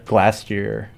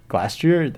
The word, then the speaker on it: Glastrier: I love Glastier Glastrier, that's how you say it.